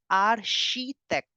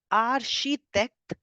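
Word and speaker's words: architecte: we were doing nationalities that CH in French gives the sound of sh CH gives the sound of sh so in French you pronounce architect as arhitect arhitect same word for both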